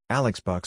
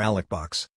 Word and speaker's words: Alex Box: Alex Box Stadium, sometimes pronounced as Alec or Alec Box, was a baseball stadium in Baton Rouge, Louisiana.